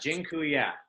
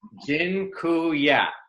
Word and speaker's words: dziękuję: And dziękuję. By the way, I just taught you all a Polish word for thank you. It's dziękuję.